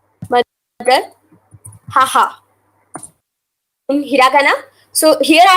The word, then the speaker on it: haha: So in hiragana, see here, two syllables are used. Ha, ha. So simply, you have to write the ha syllable 2 times.